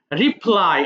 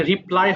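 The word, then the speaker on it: reply: রিপ্লাই, আচ্ছা এটা আবার রিপ্লে বলো না কেউ। আমি দেখেছি তোমাদের ওই যে মাঝে মধ্যে দু একটা এমন ভুল হয়ে যায়, বলে দিই। ওই বাংলা উচ্চারণটা একটু দেখে নিবা, এটা রিপ্লাই হবে, কেউ রিপ্লে বলবে না, কেমন?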